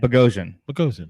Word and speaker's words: Bogosian: Bogo, because they gave up nickname, and Bogosian, which Bogosian's the way it actually is.